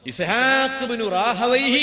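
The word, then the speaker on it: إسحاق بن راهويه: ഇസ്ഹാഖ് റാഹി ഒരു ദിവസം ഇസ്ഹാഖബ്നു റാഹവൈഹി എന്നും പറയാം ഇസ്ഹാഖബറാഹുയഹ് എന്നും ഉച്ചാരണമുണ്ട് ഇസ്ഹാഖ് റാഹി ബുഹാരി ഇമാം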